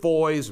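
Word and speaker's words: Foys: whistle on about him bishop foyes rhymes with boys this is the bulldog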